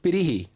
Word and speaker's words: Pirihi: Quack PIRIHI.